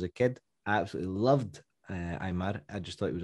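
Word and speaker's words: Aimar: the english speaking press we would say pablo eimar but it's imar i believe the pronunciation i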